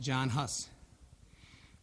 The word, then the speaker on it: Jan Hus: by a man named jan huss which in english is pronounced john huss this man was burned